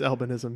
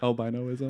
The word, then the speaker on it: albinism: Did I say it wrong? I believe it's albinism, yeah. Albinoism.